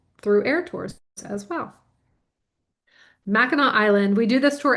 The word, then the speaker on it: Mackinac: Mackinac Island, let's say it together, Mackinac Island, not Mackinac, but Mackinac Island, and it's spelled just like you see it here. There's no K at the end.